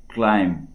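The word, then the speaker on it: climb: এটা কথা মন কৰিবলগীয়া ক্লাইম্ব এই বিটো উচ্চাৰণ নহয় এইটো সাইলেন্ট লেটাৰ এই শব্দকেইটাত কিছুমান সাইলেন্ট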